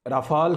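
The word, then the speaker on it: Rafale: India में राफ़ाल का रोला पड़ा हुआ है। इसको दो तरह लोग प्रोनाउंस करते हैं, कुछ लोग इसको राफ़ेल कहते हैं, कुछ इसको राफ़ाल कहते हैं।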